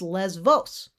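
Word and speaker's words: Lesvos: the greek spelling and the letter there which is the equivalent to the letter b is beta the beta and it's pronounced v but in english the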